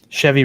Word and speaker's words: Chevy: come on you know chevy rhymes with heavy that's one of the